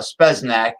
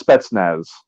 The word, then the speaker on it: Spetsnaz: he was uh a speznac soviet special forces uh i i know i'm not pronouncing it properly yeah it's spetsnaz that's they're they're superman